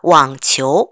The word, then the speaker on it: 网球: 요렇게 넣어야 돼요 자 왕치호 발음 삼성 이성이기 때문에 왕치호 이렇게 했죠 따라해 볼까요 왕치호 왕치호는